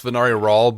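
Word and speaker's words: Venari Ral: I have now realized it almost has the same syllables as venereal, and so my brain keeps wanting to anyway. Well, I've got it straight that it's Venari Rawl, but I keep thinking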